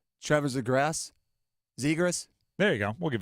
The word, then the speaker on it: Zegras: Man, they want to give us Trevor's I can never remember how to pronounce his last name. Trevor Zegras? There you go. We'll give it a go. Trevor Zegras.